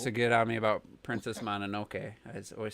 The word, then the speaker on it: Mononoke: get on me about Princess Mononoke. I always said Mononoke. Yeah, He's you like, said is it Mononoke. E at the end or is it just an E? It's just an E. It's Mononoke. Is it an EY motherfucker?